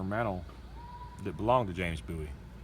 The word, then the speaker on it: Bowie: Anthony over at Honors Reviews sent me this little CRKT Minimalist Bowie. Now it's pronounced Bowie, not Bowie, okay?